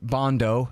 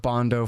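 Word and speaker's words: Bandow: at national security adviser double bond o is how you pronounce it properly Doug bond o for deputy national security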